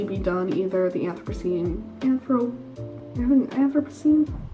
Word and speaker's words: Anthropocene: done either the anthropocene anthro ever seen yeah that's how you pronounce it it's up on the